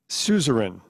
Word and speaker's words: suzerain: Am I pronouncing it correctly? Opraum? No. Opraum. Opraum. A P R A U M. Opraum. Suzerain.